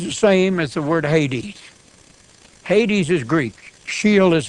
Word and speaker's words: Hades: an alpha they put our modern Greek text has a rough breathing we don't have an H in Greek we have a rough breathing sign we pronounce it Hades Hades they took the alpha